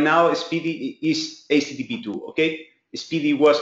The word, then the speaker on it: SPDY: Okay, well, you can heard about SPDY, S-P-D-Y, okay, but I think the pronunciation is SPDY.